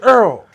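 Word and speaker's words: oil: you put it, because she said Earl. O-I-L, Earl. Earl. What the world? They call it Earl.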